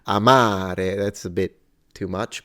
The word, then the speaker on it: amare: the word to love Amare it's clearly that the first a is shorter than the second so there is a quantity variance there or variable rather than a quality Amare Amare now I don't have